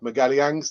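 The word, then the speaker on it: Magalhães: this afternoon uk time about uh gabrielle yeah miguel yangs that is the correct uh pronunciation miguel yang's um it appears the deal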